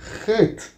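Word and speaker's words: ח: Es una J. Viene siendo la letra equivalente al alfabeto español, una J. Y esta letra debe pronunciarse como aspirada, es una letra gutural.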